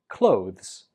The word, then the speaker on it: clothes: So we pronounce this word clothes. Clothes. The last syllable is a weak Z. Clothes. A lot of students pronounce this as clothes, but that's incorrect. It's always just clothes.